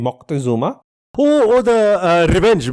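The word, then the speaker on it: Moctezuma: Uh the king that we're talking about is Montezuma or the correct pronunciation will be Mocktuma.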